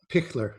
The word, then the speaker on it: Pichler: So Caroline, how do you pronounce her last name? Pichler? Pickler, yeah. Pickler.